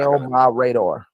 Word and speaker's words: El Mirador: It's like my radar. I got it. Okay, El my radar.